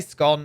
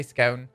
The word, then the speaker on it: scone: the answer to that some people say scone i say scone and then some people say scone i say scone um and when it